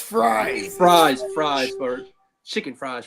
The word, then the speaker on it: Fries: Vikings this morning signed former Colts guard will freeze to a fiveyear $88 million deal it's pronounced fries fries fries for chicken fries free fres and